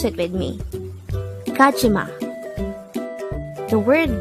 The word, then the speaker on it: 가지마: word Number 103 kajima kajima this is pronounced as a three syllable word the first syllable is G the second syllable is G the third syllable is ma pronounce it with me kachima the word gajima is